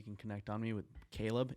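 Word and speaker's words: Kalob: Media stuff you can connect on me with Caleb it's just at Kayla but the L is a one and my name is spelled a little bit differently k-a-l-o-b so my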